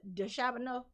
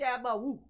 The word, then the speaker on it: DeChambeau: DeChambeau. How do you pronounce it? DeChambeau.